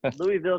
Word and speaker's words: Louisville: Well, if we're gonna run this podcast, I've got to fix that right now. You got to say it right. Yes, I'm not going to listen to that for however many dozens of episodes. Louisville, Kentucky.